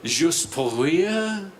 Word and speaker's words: Juste pour rire: They pronounce it Juste pour rire.